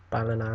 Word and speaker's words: Ballina: But then we went on to play Ballina is how you say it, in the EA Sports second round, EA Sports Cup even, second round.